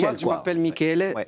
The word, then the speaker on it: Michele: Oui, Michel, moi, je m'appelle Michele. Ouais. Michele, ça se prononce vraiment Michele. Ici, on m'appelait Michel quand je suis arrivé, même sur la boîte à lettres.